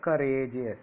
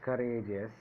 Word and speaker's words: courageous: Now let us take the next word, courageous. Courageous. See the word courageous. Courageous. Courageous. Courageous. Courageous. Courageous. Us is the first syllable. Rage is the second syllable from the end.